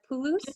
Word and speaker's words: Pulusu: Oh, and you mentioned that with the tomato stew, how do you pronounce it? Is the pulus? Pulusu.